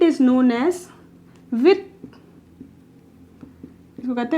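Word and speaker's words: huit: 7 is known as Seth, इसकी spelling होती है सेप्थ, इसको कहते हैं सेथ, ठीक है। 8 इज नोन एज विथ, इसको कहते हैं विथ, कुछ लोग इसे विद भी कहते हैं, जो कि मतलब सही है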